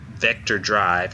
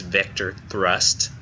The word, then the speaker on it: Vector Thrust: to uh uh Iceberg I kept mispronouncing the name of their game last week it's not Vector drive it's Vector thrust um I'm going to